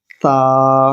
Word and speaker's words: ث: لہجے میں ادا کریں۔ اردو تلفظ سے پرہیز کریں، یعنی بے، تے، سے، ہے، خے، توئے، زوئیں وغیرہ ہرگز نہ پڑھیں، بلکہ با، تا، ثا، حا، خا، طا، ظا پڑھیں۔ ان 29 حروف میں